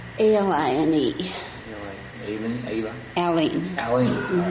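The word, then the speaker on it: Aline: Aileen. Mm-hmm. All right. There's a couple ways you can pronounce that, I guess.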